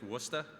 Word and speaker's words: Worcester: thing it's out of New England thing it's Worcester is how you say that right thank you